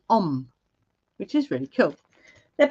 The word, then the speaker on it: Ogham: I'm going to pull, it's spelled Ogham, but it's actually pronounced Om, which is really cool.